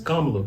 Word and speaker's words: Kamala: So we were gonna ask, how you pronounce the name again? Kamala Harris. Kamala, yeah.